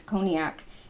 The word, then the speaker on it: cognac: original cream makers mark I know I pronounced that wrong before but it's coke it's cognac and some of this Bacardi